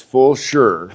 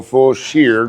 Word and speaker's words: Fulshear: Well, I tell you what, it's Fulshear. Fulshear. But a lot of people look at it and go Fulshear. Fulshear. And then you look at old photographs and it's spelled a different way all the time. Oh my gosh. It's Fulshear.